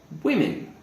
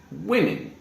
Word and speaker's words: women: here is this one and it is says women now this is a very strange pronunciation in english if it's singular noun we